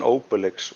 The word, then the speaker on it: Obelix: that's that's just funny to me ostrich and Obelix was a big thing here as well as Tintin uh yeah my friends recommend uh one of my my sweetest friend recommended Asterix and how do you say obricks because that's a French cartoon right Obelix Obelix